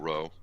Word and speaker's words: Dororo: Dororo.